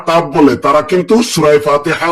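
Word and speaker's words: فاء: মাশাল্লাহ তারপরেরটায় চলে আসি ফা ফা ফা ফা হ্যা অনেক সুন্দর হয়েছে ফা কিন্তু অনেকে উচ্চারণ করে দুই ঠোট দিয়ে ফা এরকম কিন্তু ভুল উচ্চারণ হবে নিচের ঠোটের পেট উপরের সামনের উপরের দাঁতের আগা ফা ফা ফা ফা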